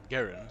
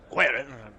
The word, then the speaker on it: Guerin: Arl Tiranon Garen, sorry. Guerin! Apparently wanted to pronounce it kind of Spanish.